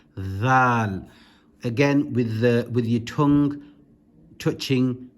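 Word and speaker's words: ذال: However, this one is pronounced dhal. Again, with your tongue touching the top of your with your tongue touching the upper teeth.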